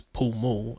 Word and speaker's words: Pall Mall: So down the centre of the Mall, spelled M-A-L-L, obviously you would think it's pronounced Mall, but in England we pronounce it the Mall for some reason. There's a place called Pall Mall as well, which is Pall Mall as it's spelled.